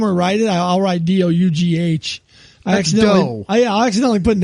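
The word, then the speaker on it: Dug: How do you pronounce that? We've never heard this It's Doug that you speak Doug.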